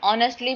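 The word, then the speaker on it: honestly: Next week T sound silent जैसे ऑनेस्टली में एच ओ एन है वर्ड लेकिन ओ जो सॉरी एच जो है वो साइलेंट है और ओ एन से बचता है ऑनेस्टली।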